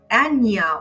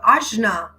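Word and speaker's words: Ājñā: the Center of wisdom where we have our Anya or Ashna depending on how you want to pronounce it in Sanskrit or the third eye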